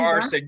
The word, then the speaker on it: Garson: Garson. am I pronouncing your name correctly? Garson, you got it, Janice.